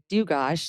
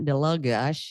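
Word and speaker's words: Dlugosh: And I'm getting married soon, and it's Dugosh. The L is silent. It's not Delugosh, you know?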